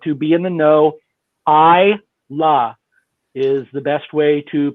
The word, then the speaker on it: Islay: distilleries on isla and if you're going to pronounce it islay or islay or whatever that's not the correct way to do it so if you want to be in the know i la is the best way to pronounce that and